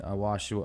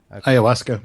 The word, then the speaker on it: ayahuasca: When you talk about the DMT experiences, I've spoken with several people that have had DMT and ayahuasca, or how do you pronounce that? Ayahuasca.